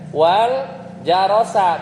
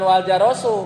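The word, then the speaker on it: وَالْجَرَسَ: Wal jarosa, bukan wal jarosu.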